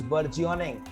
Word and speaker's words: burgeoning: Next word in the line is burgeoning. Please mark the correct pronunciation. Burgeoning. Geography, burger, burgeoning.